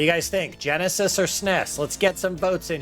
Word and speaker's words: SNES: And by the way, that SNES rhymes with Ness like Nintendo Entertainment System.